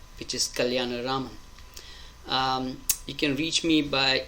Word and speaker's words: Kalyanaraman: the hardest things you will learn is to pronounce and spell my last name, which is Kalyanaraman.